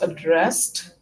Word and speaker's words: addressed: Address, addressed, even though it is ed, the last sound is a t sound.